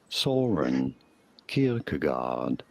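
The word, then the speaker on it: Søren Kierkegaard: Soren Kierkegaard.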